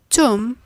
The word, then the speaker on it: tomb: The B is a silent letter, and as such, the three words should be pronounced as womb, tomb, and bomb.